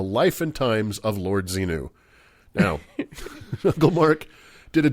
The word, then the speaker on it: Xenu: I'm sorry, I hate to correct you on the air, Doug, but I believe it's pronounced Xenu, like Javier, right?